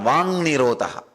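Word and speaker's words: vāk nirodha: That is what is called Vang Nirodha. Vak Nirodha only, when you pronounce it becomes Vang Nirodha.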